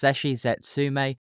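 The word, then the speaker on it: 絶死絶命: In Japanese, the epithet is pronounced Zesshi Zetsume, and hence this is where her nickname comes from.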